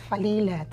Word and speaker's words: Falila: alilah is from nigeria falela is actually a name from the islamic background so that's falila and it actually means